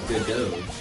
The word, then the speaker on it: Godot: And then Bolt says, pronounced Godot. Like the Wonder Woman actress? Gal Gadot.